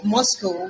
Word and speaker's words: MoSCoW: We talked about the Moscow, which is spelled as MSCW here.